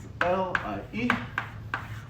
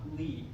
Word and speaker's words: Lie: so the first derivative l i e how do we pronounce this yes Marcel Lee lead thank you if you call it the LIE derivative then you get a zero in the next one okay so uh